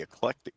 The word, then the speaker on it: eclectic: goat she is The Eclectic goat I see you did get that one right and so many people pronounce that wrong I've lost track of the number of times I've been the electric the electric goat that